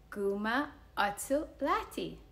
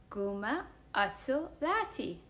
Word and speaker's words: Guma' Åcho Latte: Guma atu laddie. Guma atu laddie.